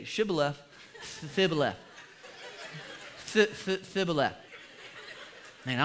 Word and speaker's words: Shibboleth: would say to him then say Shibboleth and he would say civilus because he couldn't pronounce the H and then they'd kill